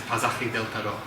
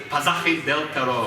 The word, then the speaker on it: Pasaje del Terror: And the exoticness of the name, the uniqueness, that adds to it, and the correct pronunciation is Pasaje del Terror.